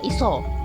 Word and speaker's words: isa: Jadi tulisannya tuh Isa, tapi bacanya Iso. Ya karena dalam aksara Jawa sendiri, dalam bahasa Jawa sendiri bahkan ya, dalam bahasa Jawa sendiri A itu bisa bunyi O, bisa bunyi A.